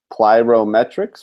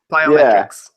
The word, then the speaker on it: plyometrics: Okay, I'm going to have Mac do an exercise, and I think it's pronounced plyrometrics or something, like where you jump and stuff. Pyrotechnics? Oh. Plyometrics. Plyometrics. Yeah.